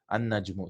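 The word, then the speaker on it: النجم: An-najmu. See, we are not pronouncing the lam.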